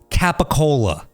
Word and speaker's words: capicola: Like if you say it the way that it's spelled, okay. It's going to be said capicola.